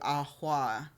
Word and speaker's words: Ahau: That was the burden of Catoon to Ahua. I don't know how to pronounce it. It's Ahau, which is very interesting because I think that's where like guarding your energy comes in.